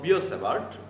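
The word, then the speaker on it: Biot–Savart: beard and sour especially we call biosavart because t is not pronounced and i whenever these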